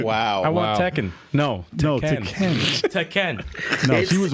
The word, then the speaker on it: Tekken: got roasted for saying pronouncing Tekken the way she diden that's actually how to pronounce it found teeken really I actually found